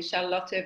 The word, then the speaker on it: Charlotte: for your introduction and I love it when you call me Charlotte because I'm from Germany and that's the way it's pronounced and it feels like